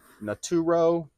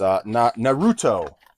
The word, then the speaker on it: Naruto: So the first thing sold was Naturo. I don't know. I forget how you say it. This one. It's Naruto.